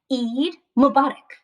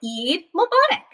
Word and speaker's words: Eid Mubarak: to say it let's try saying it together eid mubarak there you go you've got it eid mubarak so let's look a little bit closer there's